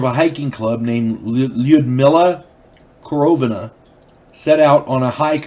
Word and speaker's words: Korovina: K-O-R-O-V-I-N-A. Korovina group. I'm going to say Korovina, because I'm pretty sure that's how it's pronounced.